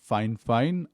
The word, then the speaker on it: Fifine: This is the Fifine K688, and yes, it's pronounced "Fine-fine."